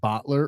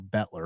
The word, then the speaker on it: Bettler: Is it Bottler or Bettler? Oh, it's Bettler. It's the Bettler family.